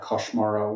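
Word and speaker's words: Koŝmaro: Because the big character, and this is, it's spelled like Cosmaro, but I think the correct pronunciation with Esperanto is to kind of to make it more like Koshmaro, which is the way the audio narrator does it, which kind of makes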